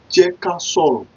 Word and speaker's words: jẹ́ ká sọ̀rọ̀: So when you want to pronounce it, you leave a space while you're pronouncing it, so you will be able to get it right.